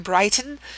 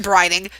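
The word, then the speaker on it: Brighting: occurs to me that i said his gosh dang name wrong um in part one like i said what did i say like kevin brighton it's kevin brining sorry uh sir mr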